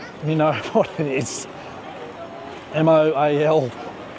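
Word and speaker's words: Moalboal: Moalbol. But I say it like mole and bowl, like a bowl that you eat out of, but it's a little bit different to that.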